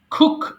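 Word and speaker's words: cook: করা খুক খুক খুক এটা অনেকে ভুল করে খুড বলে খুড হবে না কিন্তু খুক রান্না করা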